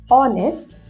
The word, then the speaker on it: honest: as honest or harvard h has to be silent so the sound will be like this honest r did you ever